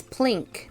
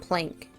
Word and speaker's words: Plink: It's Plink, not Plank.